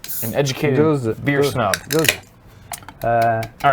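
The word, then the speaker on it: Gose: A goza. A goza. Is it goza? Yes. we Rhymes confirm that? rhymes with Rosa.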